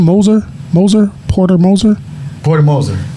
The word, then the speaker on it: Moser: out to coach uh uh coach how you pronounce his last name Moser Moser Porter Moser Porter Moser that's how you